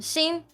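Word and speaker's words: 心: There's the word kokoro, which is heart. Yep. But there's another way to pronounce it, which is shin, or like shin.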